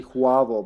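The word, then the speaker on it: J'avo: They call them Javo, but they just spell it weird and say Huavo because they didn't train them in Serbian well.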